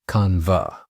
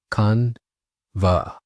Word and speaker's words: Canva: The correct pronunciation of Canva is Canva. Let's repeat that together. Canva. Notice that it's a two-syllable word with the emphasis on the first syllable, con.